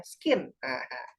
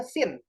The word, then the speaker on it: scene: dapat materinya ya, tolong jangan baca ini suka ada yang bacanya skin. Nah, ini skin. Nah, bukan, ini bukan skin. Ada yang secen, ada yang suka gitu, secen. No, ini dibacanya sin. Ya, yang oranye ini sin.